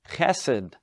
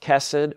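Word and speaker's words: חסד: It's that Hebrew term chesed. Chesed, or sometimes just pronounced chesed, or even sometimes you'll see it as chesed, with an indication under the H, that it's that hard H sound.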